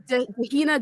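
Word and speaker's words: Dehenna: Yeah, like her name is Dahina Davidson, proud to be elected the first conservative MP for beautiful Bishop Auckland. Name rhymes with Vienna, APP campaigner.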